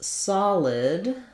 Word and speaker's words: solid: Solid has two syllables, so that's going to be one of the main differences here. And letter O says the ah sound.